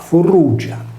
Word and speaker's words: Frigia: del sole nella regione della friggia pronunciata Fur Ruggia anche l'ios avevano un